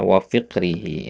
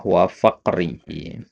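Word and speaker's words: فقره: Kemudian di sini tadi antum bacanya wa fiqrihi yang benar adalah wa faqrihi ya dari kata fakir ya faqrihi.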